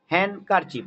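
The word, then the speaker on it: handkerchief: হ্যান্ড, হ্যান্ড কারচিপ, ডি কিন্তু silent, হ্যান্ড কারচিপ।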